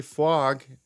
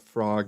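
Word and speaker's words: Fwog: VIP area and actually fog is it's pronounced because if you call it frog you get heavily attacked by the community because it's spelled with a W so fog coin is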